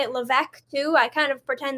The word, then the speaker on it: Levesque: right you'll let me know in a minute Levesque she is she's nodding so I got it